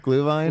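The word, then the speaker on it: Glühwein: Are we talking about glue vine?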